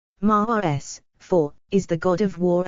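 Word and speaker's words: Mārs: In ancient Roman religion and mythology, Mars, Latin, ma with macron rs, pronounced Mars, is the god of war and also an agricultural guardian, a combination characteristic of early Rome.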